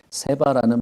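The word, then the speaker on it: שבע: 세바라는 말이 7이라는 뜻이 됩니다. 세븐이랑 발음이 똑같아요.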